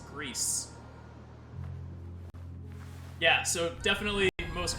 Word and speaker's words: Gris: wrong game so again this is Greece pronounced Greece developers his new Auto Studios published by devolver digital numata is a Spanish development studio so Greece is pronounced like you would in Spain in Spanish as opposed to agree or Gris it is Greece yeah so definitely the